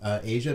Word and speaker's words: Aja: Asia, or I mean, I thought it was Aja, but I think it's Asia because that's how it's pronounced in the song.